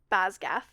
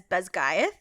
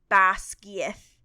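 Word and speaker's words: Basgiath: Which I pronounced Basgath. Nope. Cool. So, Cool. I believe the audiobook pronounces it as Besgaeth. I believe the Gaelic is something more similar to Basgieth. Yeah, I think that's Basgieth. Yeah. Because I actually think it's like 2 words.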